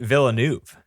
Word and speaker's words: Villeneuve: of your life, but it's Denis Villeneuve. Villeneuve? Nope. See, you don't Nope. pronounce anything. Nope. It's just Villeneuve.